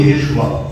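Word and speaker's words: ישוע: ইংলিশেতে নামটি এসেছে Jesus, actually জিসাসের নাম ছিল ইয়েশুয়া। ইয়েশুয়া বা ইয়েশুয়া উচ্চারণ হতো।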